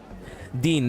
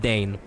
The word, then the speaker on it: Dane: Dean, not Dane. I see. So excuse me for that. I didn't remember what Dane is either. Not it is Dean. It's spelled by Dean. Oh, no, it is Dane on spelling, but Dean in pronunciation.